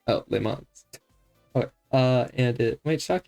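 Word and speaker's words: Le Mans: Les Mans should be pronounced in French, so it's pretty accurate. Oh, Les Mans.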